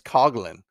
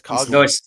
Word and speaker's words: Coughlin: By the way, I think he said because it's the Irish pronunciation, it's Coglin. Is it Coglin? It's Coglin.